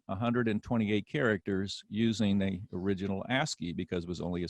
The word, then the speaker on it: ASCII: code for information interchange so it's an acronym a s c i i and it's pronounced ascii and the original ascii uh was